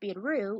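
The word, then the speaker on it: ビール: Lager beer, pronounced biru in Japanese, is the most popular drink, pointed out each selection.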